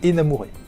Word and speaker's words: énamouré: son amour et fluctue quant à l'accent sur la première lettre les deux variantes existent avec la prononciation qui va avec la variante sans accent se prononce plutôt en amour et tandis que la variante avec accent se prononcent énamouré la famille a aussi